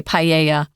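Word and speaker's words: paella: and like Tom said it's weird because it's a Spanish word but even in English we pronounce it in the Spanish way paa I remember there was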